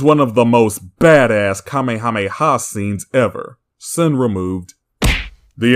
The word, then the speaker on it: Kamehameha: they all survive this Grace yourselves for the kameha Maya wave mispronouncing Kamehameha also saying Kamehameha wave is redundant the ha